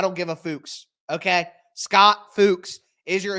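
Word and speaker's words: Fuchs: assistant offensive line coach it's spelled Fu C HS I watched a million interviews on YouTube try to find somebody saying his name he said his own name it's fuks I don't give a fuks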